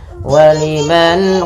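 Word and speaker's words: ولمن: Yaitu suara nunnya harus diperjelas dan dijelaskan suara nunnya waliman. Waliman dan tidak boleh ditahan.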